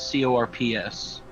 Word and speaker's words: corps: Core in the sense we're using it is CORPS. Oh, corpse? No, it's still If pronounced it's core. still pronounced core, how do you expect me to know that? Okay, I want you to look at Those like the Marine context. Corps. Like, Okay, the corpse. Marine Corps, Gotcha.